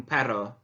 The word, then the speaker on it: perro: remember to roll your R's in pero un perro muy bien okay little bit tricky pronunciation but actually in Yorkshire it should be